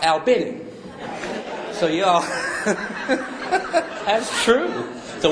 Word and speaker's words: Albany: Albany and you know what they got a a l b a n y in Georgia and they think you all and